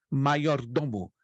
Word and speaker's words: maiordomo: E a letra J no latim se pronuncia como fosse um I. Então a pronúncia correta é maiordomo, que significa o criado